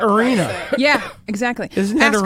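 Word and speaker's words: Areana: Yeah, I would pronounce that Arena.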